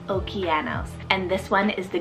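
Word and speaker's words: Okeanos: spell o k e a n o s okianos and this one is the greek word for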